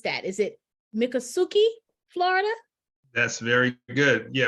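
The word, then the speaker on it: Miccosukee: right it is in um Kelvin help me pronounce that is it mikasuki Florida that's very good yeah mikasuki Florida Muki Florida about 18 miles outside of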